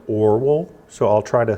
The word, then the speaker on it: Orual: So in the retelling, this sister is named, it's O-R-U-A-L. I always want to say Orual because it kind of sounds like Oreo cookie. But I think that the correct pronunciation is something more like Orual.